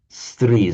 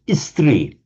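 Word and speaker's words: स्त्री: But the Hindi speakers find it very difficult to pronounce stri, so they pronounce it istri.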